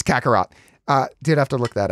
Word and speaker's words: Kakarot: It's Kakarot.